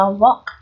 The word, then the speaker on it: walk: Rồi tiếp theo đọc là walk. Walk. Cái này là âm O dài. O dài ký hiệu là C ngược hai chấm.